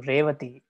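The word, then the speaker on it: Revatī: word, is a name, Revati. Revati, you see, start from ra, and both starting syllable and ending syllable is long or heavy.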